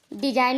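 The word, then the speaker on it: design: तो एन से पहले आया जी हमेशा साइलेंट रहता है। डिजाइन में भी आप देखिए, एन से पहले जी आया है।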